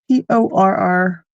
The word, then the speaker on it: porringer: Wally, Porringer, Ringer, Ringer, Porringer, not Porringer. Okay. I guess I think I've heard people pronounce it like porringer. Maybe they are leaving out the end, and that would make sense as to why I was hearing it that way. Okay, good. Thank you. Hard G. I got it.